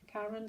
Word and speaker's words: Caron: Caron, C-A-R-O-N. That's how you pronounce it.